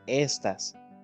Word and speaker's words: estas: The difference in the writing is that the second one would have the accent on the A. Estás. But this one is estas.